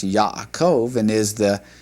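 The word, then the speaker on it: יעקב: By the way, that particular word is pronounced Yakov and is the name for Jacob in Hebrew.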